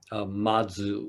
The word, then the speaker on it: Mazu: It is a statement from Mazu, or Baso is his name in Japanese pronunciation, early Chinese Zen master.